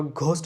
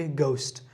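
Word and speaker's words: ghost: Next হচ্ছে আমাদের honour, hour, গোস্ট, আমরা ঘোস্ট বলি, আমরা বলি যে ঘোস্ট, এটা ঘোস্ট হবে না, এটা হচ্ছে কি গোস্ট, গোস্ট, গোস্ট।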